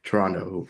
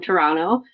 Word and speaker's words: Toronto: And someone's from Toronto when they don't say the T. If someone's not from there, they say Toronto. But Mhm. there's a joke, the locals say Toronto, like there's no second T.